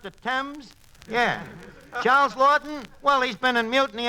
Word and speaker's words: Laughton: duffy ain't here hello duffy tonight uh charles lawton the english sophie tucker uh what duffy uh